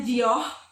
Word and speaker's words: Dior: Pernah dengar brand Dior? Tulisannya Dior tapi bacanya Gio. Pernah nggak?